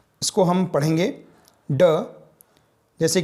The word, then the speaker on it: ड: यह मूर्धन्य ध्वनि है। इसके उच्चारण में अंदर से आती हुई वायु जीभ में नोक द्वारा मूर्धा को स्पर्श कर रुकती हुई बाहर निकल जाती है।